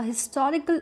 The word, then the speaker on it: historical: Similarly, a historical account, now we will use a because here H is not silent, it is pronounced.